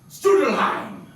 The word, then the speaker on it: Strudelheim: I know that name can be quite confusing for some people. So say it right! Strudelheim!